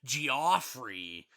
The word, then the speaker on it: Geoffrey: producer uh Jeff G Geoffrey is how he pronounce it he actually does yeah